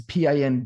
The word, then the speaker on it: Pind: especially my last name, which was a Pind, which is Pind, but with a silent D, and it's like it was really hard to communicate with people and get that right.